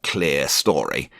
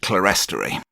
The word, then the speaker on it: clerestory: Here are 3 Ratio coach kits, 2 for clerestory coaches, or clear story, but that just doesn't sound right to me, although I generally lean to UK pronunciation. Everyone I've met in Canada pronounces it clerestory.